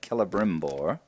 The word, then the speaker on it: Celebrimbor: They are actually, the C is pronounced as a K, so it's like Galadriel's